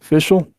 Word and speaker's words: Fischl: Fischl.